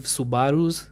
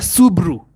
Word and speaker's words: Subaru: boy language uh these are boys who drive Subarus That's The Stereotype funny thing is Subarus or Subarus but you know if you see the spelling I hate people who call it Au subu bro it's spelled s u b a r